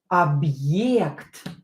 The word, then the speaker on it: Объект: Объект. Now we are going to use the hard sign. Объект. Объект. Объект. This sign makes like a slight break.